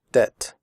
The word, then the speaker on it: debt: traded fitted noted debt in the word debt the B is silent we do not say depth we say debt comfortable the word comfortable